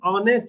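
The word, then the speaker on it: honest: शी इज ऑनेस्ट women. तो ऑनेस्ट वाला भाई हमको मालूम है कि एच हमारा क्या है? भले कंसोनेंट लगता है लेकिन उच्चारण तो वोवेल से हो रहा है तो हम लोग क्या लगाएंगे?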